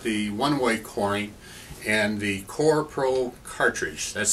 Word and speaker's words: Korpro: This morning we're going to talk about coring, and specifically we're going to talk about the one-way coring and the Korpro cartridge. That's spelled K-O-R-P-R-O, Korpro cartridge for the one-way coring.